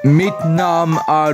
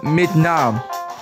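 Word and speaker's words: namn: could you do that mnam William got it look if you're if you're struggling on saying that sense just think of Vietnam mnam okay then um um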